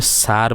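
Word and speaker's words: Tsar: को पढ़ जा कि टी एस ए आर को हमें सार प सुनामी पढ़ से ए टी साइलेंट सार किनु टी जेड ए आर लगे जार एटी टी साइलेंट ए भाषा लिख को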